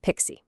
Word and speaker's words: PKCE: All right, meet our first security hero, PKCE. It's usually pronounced pixie and it stands for a proof key for code exchange.